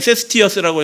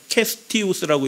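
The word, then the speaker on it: Cestius: 총독이자 군단장이었던, 우리 말씀 향기엔 세스티어스라고 했는데 캐스티우스라고 읽는 게 맞습니다.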